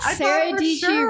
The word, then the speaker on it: Dietschy: Sara Dietschy rhymes with peachy is a watermelon.